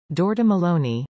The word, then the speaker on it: Giorgia Meloni: Georgia Maloney Italian pronunciation dorda Maloney born the 15th of